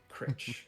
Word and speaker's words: Critch: So, uh, uh, how do you pronounce that? Crite. You can call me Critch. Critch.